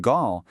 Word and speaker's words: grand: In the masculine "grand", the D is totally silent, but in the feminine "grande", that E forces you to pronounce the D.